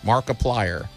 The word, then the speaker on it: Markiplier: Markiplier.